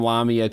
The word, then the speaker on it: Lamia: Lamia, insomnia. It rhymes.